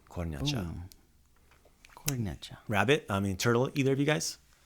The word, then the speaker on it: kornjača: The word for turtle is kornjača. Kornjača.